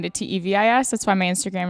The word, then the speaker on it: Teeuws: wrong and one time the announcer said Tevis rhymes with crevice and ever since then it just kind of stuck and we all pronounce it wrong and we just say Tevis even though it's so